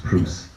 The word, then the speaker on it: Bruce: It's Bruce. I had Prius.